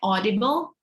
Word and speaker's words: audible: anyone else audible so the a and you you read it as an o audible audible am i audible not audible because if you read a you as ow it's not uh correct in terms of like the the better pronunciation so the better one is audible and how about the